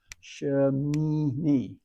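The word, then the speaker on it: שמיני: So now the next syllable is Shin, Mim with an E into the Yod, and the last syllable is Noon with an E sound and a Yod, so it's Ha, Shemini, the 8th, which is our Torah portion name, the 8th.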